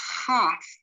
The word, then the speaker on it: Chaf: Then you have Chaf. This sounds like an H in the back of the throat, and they will transliterate with an H or CH or a KH. Then you have a Chaf Sofit, which is written in two different ways.